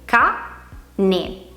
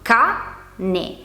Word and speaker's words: cane: Abbiamo già stabilito che è composta da due sillabe, ca, ne. Sappiamo anche che pronunciamo con maggior intensità la prima sillaba, ca, ne. L'accento infatti cade sulla A, non la pronunciamo cane, ma cane.